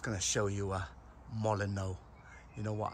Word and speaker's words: Molyneux: You know what, I've always thought this was pronounced Molyneux, but someone said to me, no, it's not. That's not how you pronounce it. It's called Molyneux with a silent H.